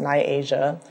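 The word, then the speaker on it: Niajah: spelled n-i-a-j-a-h um and it's pronounced nyasia um that like the continent asian put ni in front of it and my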